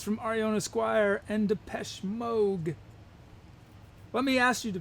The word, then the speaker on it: Moog: all these amazing synthesizers i always thought it was mood because it looks like moog m-o-o-g but then i i saw an interview with him and he pronounced it and it was pronounced moog the peshmerg okay let's